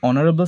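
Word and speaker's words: honorable: Mister Roy is dash অনারেবল ম্যান। তো এখানে যদি অনারেবল সাউন্ডটা আমরা উচ্চারণ করি আমরা দেখতে পাচ্ছি এখানে এইচ যেটা আছে তার কোন সাউন্ড আসছে না এটা সাইলেন্ট তা আমরা শুনতে পাচ্ছি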